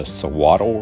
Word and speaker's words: Suiattle: so throughout the video the correct pronunciation is the sawatl river hi folks melody and i are